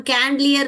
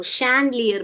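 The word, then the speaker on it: chandelier: श हम कैंडलियर नहीं बोलते हैं इसको। क वाला साउंड नहीं निकालता है। हम चैंडलियर भी नहीं बोलते हैं। हम शैंडलियर बोलते हैं। एस एच वाला साउंड निकालते हैं।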